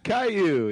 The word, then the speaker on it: Caillou: Caillou, is that how you say it? Caillou, yeah, Alright.